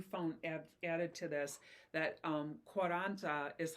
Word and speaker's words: Quaranta: And then I found out, but you found added to this that Quaranta is how you say it in Italian.